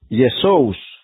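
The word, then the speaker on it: Ἰησοῦς: Yesous. La palabra Yeshu, la palabra completa es Yeshua, pero luego quedó en Yeshu, porque la prohibieron. Cuando la transliteran al griego es Yesous.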